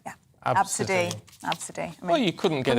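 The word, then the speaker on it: Abcde: Parents of, this is pronounced Absidy, but it's spelt A-B-C-D-E, like the first 5 letters of the alphabet, yeah. Absidy.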